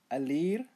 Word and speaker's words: alir: Alir, air, pronounce as a li ir, a li ir, alir.